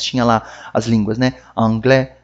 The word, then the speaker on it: anglais: O S não se pronuncia em francês. Esse é um que causa bastante confusão. Porque a gente vê ele lá, a gente quer falar ele. Mas em francês não fala.